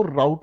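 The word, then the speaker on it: route: आप इसको राउट भी पढ़ सकते हैं, आप इसे रूट भी पढ़ सकते हैं।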